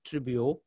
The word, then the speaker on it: Tribuo: It's Tribuo, but I think even looking at the word itself, it's easy to remember. So it's three syllables, and this is what it actually means in Latin.